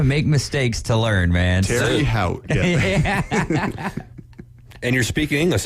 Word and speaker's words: Terre Haute: And also, shout out to you, Dave, for not getting Terre Haute correct.